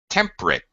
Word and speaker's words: temperate: temperate temperate we say temperate we even reduce it to uh we reduce the syllable in modern day English we would say temperate temp first syllable stress I don't have a